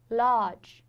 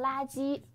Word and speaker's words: large: 然后大，large, large。